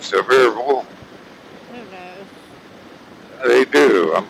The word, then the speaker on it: Sevier: They pronounce it different. Severe.